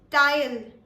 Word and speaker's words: Teil: The next word is pronounced as tile. Tile.